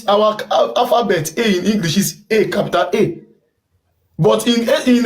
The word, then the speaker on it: Esan: there is nothing like Isa the right pronunciation is ISA because the the white people were pronouncing it because the first letter started from E and in in language